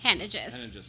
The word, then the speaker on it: Henneigess: Henneigess. Make sure I'm pronouncing that right. I think you're pretty much close to it because I would say it the same way. Henneigess.